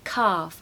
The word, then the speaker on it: calf: is a baby cow make sure to use a long a calf and no l a foal is a